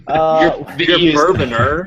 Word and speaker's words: Bourbonr: You're Bourboner. The E is silent.